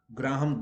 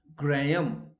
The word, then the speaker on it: Graham: all the novels of graham green absolutely wrong graham so h is silent where i is silent